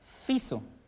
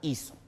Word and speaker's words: hizo: En nuestro idioma español, anteriormente se decía fiso. Es un arcaísmo. Sin embargo, esta palabra evolucionó, la F perdió su sonido y se sustituyó por la H, que sabes es muda. Entonces, se pronuncia ahora hizo.